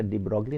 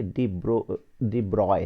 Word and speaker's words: de Broglie: और अच्छा, डी ब्रॉगली को मेरे मुंह से हमेशा डी ब्रॉगली निकलेगा, एक्चुअली में ये डी ब्रॉय है, डी ब्रॉय। तो मैं हमेशा बार बार मैं डी ब्रॉगली बोलूँगा, लेकिन एक्चुअली में the correct pronunciation is डी ब्रॉय।